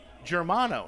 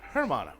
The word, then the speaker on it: Germano: haven't been pronouncing correctly so it's Keegan germano not hermano germano germano so we got